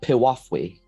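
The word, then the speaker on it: piwafwi: cloak all right here you go that is pronounced piwafui that looks cool I was gonna say that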